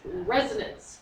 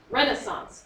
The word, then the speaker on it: resonance: I want to be clear the word is pronounced resonance structures not Renaissance structures Renaissance structures are castles that Kings and